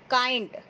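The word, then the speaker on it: kind: काइंड, के आई एन डी, काइंड, काइंड में के साइलेंट नहीं रहेगा, ठीक है, तो इसकी मीनिंग क्या होती है, काइंड की, दयालु।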